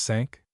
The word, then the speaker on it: cinq: Sink pronounced sank.